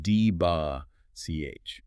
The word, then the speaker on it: debauch: Next is debauch pronounced dba ch.